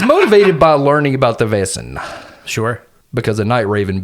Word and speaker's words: Vaesen: He's motivated by learning about the VAESEN Sure.